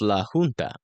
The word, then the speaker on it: La Junta: La Junta is pronounced La Junta.